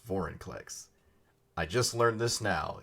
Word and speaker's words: Vorinclex: So it's not Vorniclex, it's Vorinclex. I just learned this now. It took me this long. It took 3 printings. Alright, I'm here with Vorinclex.